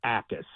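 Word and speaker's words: Jacas: Oh, and don't sleep on uh Gabe Ais from Illinois. And his last name's pronounced uh is Jac. The J is silent, but Gabe Ais from Illinois.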